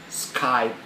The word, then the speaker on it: Skype: the word very good Skype not skypee Skype okay service Self Service